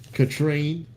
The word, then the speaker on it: Katrine: Katrine. It rhymes with latrine, but you ain't no latrine.